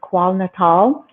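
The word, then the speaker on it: KwaZulu-Natal: um which is in I think it's pronounced qual natal um area and to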